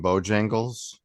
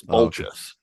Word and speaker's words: Boltjes: glad to be here how do you say your last name Bojangles uh that's very close actually it's bulgeous holy